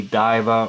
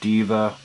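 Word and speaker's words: deva: want to say diva depends on how you want to pronounce the i as an actual long eye where you want to give it an e sound like a long e daiva or diva means goddess it's derived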